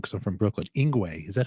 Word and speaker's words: Yngwie: You played with, you know, say his name wrong cuz I'm from Brooklyn. Inguay. Is that how you're supposed to say it? Inguay.